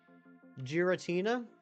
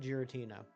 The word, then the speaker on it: Giratina: Giratina? I've heard people pronounce it Giratina. To be fair, the G can go either way. That's one of those letters. Like a C.